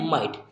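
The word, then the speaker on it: might: क्या पढ़ते हैं माइट ना कि हम ग को यहां पर जी को ग नहीं बोलते हैं ठीक है तो यहां पर कभी-कभी माइट इसे जी एज को हम साइलेंट बोते हैं साइलेंट रहेगा हमारा यहां पर तो हमने इसे पढ़ा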